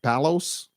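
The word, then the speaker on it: Παῦλος: Paul that's Greek right Palos that's Greek we now say Paul but back then they said Palos uh he was a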